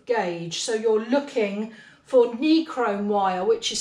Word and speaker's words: nichrome: so you're looking for necrom wire which is spelt n for nigel i c h r o m e necrom so it's basically got an ni in front of the word chrome and it's basically wire